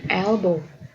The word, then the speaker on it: elbow: ini untuk siku ya elbow elbow e dibacanya tetap e ya gak jadibow gituak tap jadi elbow elbow this is an elbow